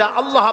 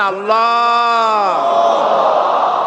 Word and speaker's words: আল্লাহ: হয় না কেউ বলে না আল্লাহ আল্লাহ পাকের উচ্চারণটা হচ্ছে আল্লাহ পাকের নামের উচ্চারণ হচ্ছে আল্লাহ মুখটা একটু গোল হয়ে যাবে বলেন আল্লাহ আল্লাহ সুবহানাল্লাহ পৃথিবীতে বিভিন্ন জাতি তার স্রষ্টাকে তারা যাকে